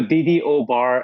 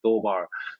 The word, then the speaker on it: DDOBAR: So DDO bar, a lot of people I like that, so I can correct people. So DDO bar is not the right pronunciation. Pronunciation is a do bar.